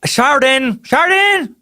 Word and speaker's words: Sheridan: And I love how you wrote pronounced like burden. Thank you, Sheridan. Because if you didn't write that, I would have been Sheridan.